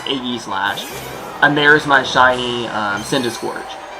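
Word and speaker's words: Aegislash: Apparently it's pronounced Aggie Slash.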